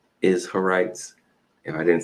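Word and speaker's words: Izharites: an in in there the clan of the isites kind of sounds like Israelites but it's a little different isites if I didn't say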